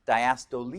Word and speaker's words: diastole: for you systole and diastole when you look at those it's like looks like cysto and diastole but it's diastole you pronounce the e you should have a